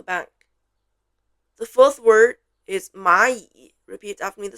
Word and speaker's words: 蚂蚁: The fourth word is 蚂蚁. Repeat after me the spelling. 马蚁 is 整体认读音节, so we don't spell. Both 马 and 蚁 are in the third tone.